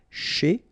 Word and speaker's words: chez: S'approcher de, okay, C and H together, sh, and then ER at the end, et, chez.